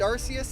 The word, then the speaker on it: Arceus: that official name and one of the first voiced stances for how to pronounce Arceus came from I think Pokemon Battle Revolution uh in which the announcer when you send RCS out uh announces it by that name now this is a